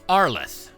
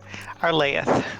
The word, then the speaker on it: Arlaeth: So, Arleth, a proud dragon... Arlaeth. Arlaeth. Much cooler.